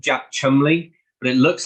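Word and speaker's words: Cholmondeley: policeman he's called Jack Chumley but it looks like it should be pronounced Jack chalmanderli but it's just one of those weird yeah it's just one of those weird British things um I don't know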